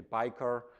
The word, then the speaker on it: Beiker: From my last name, if you pronounce it uh the German way, where I'm from, from from Germany, then you would say biker.